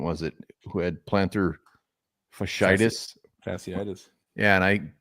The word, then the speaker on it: fasciitis: undrafted free agent was it, who had plantar fasciitis? Fasciitis. Yeah, and I said, the way I pronounce that, I should not you didn't say fajitas, did you? I said like fasciitas.